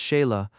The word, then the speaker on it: Chayla: Now the head and forefront of the persecution after Lamoignon de Baville, François de Langlade du Chayla, pronounced Sheila, archpriest of the Cévennes